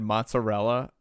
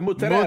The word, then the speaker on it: mozzarella: last Friday night, and I said mozzarella, and my grandma went, "No, come on, say it right, The mozzarella. mozzarella." I was like, "Mozzarella," and she looked at me. She made hard eye contact. She was like, "No."